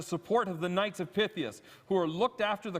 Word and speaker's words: Pythias: joined by ed kale from the knights of pythius am i pronouncing it right yes okay so knights of pythius they began their philanthropy back in 1864.